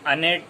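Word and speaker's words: innate: इननेट और उसकी इननेट जिसे हम अनेट के तौर पर प्रोनाउंसिएशन में लाएंगे अनेट लिखने में I double N ए टी ई इसे इस तरह से लिखेंगे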